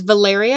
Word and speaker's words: Valeria: Anyway, this is Valeria Absinthe. Yes, that's how it's pronounced.